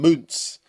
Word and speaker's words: Muntz: Keep calling him Muntz. It's Muntz. Rhymes with Hunts. I don't think it's Muntz in any world.